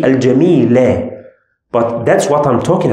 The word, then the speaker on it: الجميل: I pronounced this letter with sukun. I said al-jamil. But it's supposed to be fatha, supposed to be al-jamila.